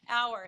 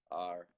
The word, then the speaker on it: hour: Hour. So there's two ways of saying that. We can make it sound like this word, but it's two syllables, definitely two syllables, hour. Hour. Or we just say R.